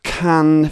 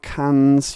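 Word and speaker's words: Cannes: really it's not i can't imagine he's gonna be releasing it as a feature um and inducting it to can festival that's right can not cans you own cultured swines it's khan it's james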